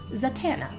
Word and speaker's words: Zatanna: And Pescando asks, how do you like to pronounce it? Zatanna.